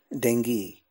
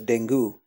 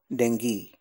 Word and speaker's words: dengue: come to an agreement the following two words have an exceptional gu pronunciation Deni he had a bad case of Deni this word is very often pronounced as denu which is the incorrect